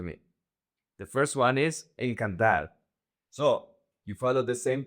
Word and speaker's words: encanta: The emphasis in the conjugation in the simple present doesn't go to the last syllable. It goes to the second to the last. So, the emphasis is going to be the syllable can.